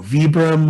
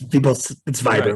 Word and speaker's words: Vibram: So I started throwing, you know, Vibram with my buddy, and I mean, I think it's technically pronounced Vibram. It's Vibram, right. But it's technically pronounced Vibram. You're right.